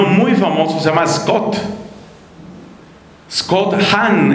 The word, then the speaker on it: Hahn: Uno muy famoso se llama Scott Hahn, ese Hahn se escribe H-A-H-N.